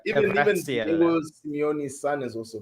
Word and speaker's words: Kvaratskhelia: Yeah, Kvaratskhelia. That's how you say his name. Even Kvaratskhelia.